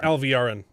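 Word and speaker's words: Alviarin: Alvarin.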